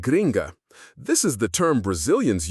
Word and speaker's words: gringa: Finally, we can't talk about a tourist's experience with Brazilian slang without mentioning gringo or gringa, pronounced gringo and gringa.